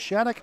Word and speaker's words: Shattuck: Shaun, S-H-A-U-N, Shattuck, S-H-A-T-T-U-C, pronounced Shattuck, a 9.